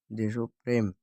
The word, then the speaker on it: দেশপ্রেম: দেশপ্রেম। তৎসম শব্দের প্রথমে ব্যঞ্জনধ্বনির সঙ্গে যুক্ত এ ধ্বনির উচ্চারণ সংবৃত হয়, যেমন দেশ, দেশপ্রেম, প্রেম, শেষ।